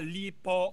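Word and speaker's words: Li Po: Ah lipo or Lipay.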